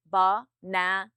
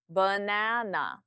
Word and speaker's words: banana: this did you say bana or did you say banana banana using the correct syllable stress will instantly make you